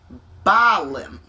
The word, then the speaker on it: Bahlam: This dude right here, the kenich balm. Okay, now we're getting to why we're talking balm. Right, phonetically, it's the same. You see that H there? It pay that no mind.